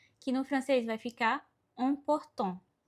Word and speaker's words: important: Por exemplo, temos a palavra importante no português, que no francês vai ficar important. Percebe que é um som bem nasal, important.